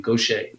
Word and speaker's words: Gauthier: Mary Gauthier, and she pronounces it, and it's sort of like it's a New Orleans Cajun style name, Gaucher.